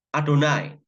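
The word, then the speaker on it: אדני: yang keenam khusus sebelum adonai atau Yehuwa tulisannya yehwa Tapi bacanya adonai kalau orang Israel Ya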